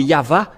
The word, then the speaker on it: Yahvah: à W é= ou c'est toujours le V la vraie appellation c'est pourquoi c'est yava et ceux qui prononcent